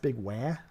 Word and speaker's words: Big Wah: I believe it's pronounced Big Wah. Oh, Big Wah. Sorry. Yeah. Big Wah. Now you know. As in the Waluigi.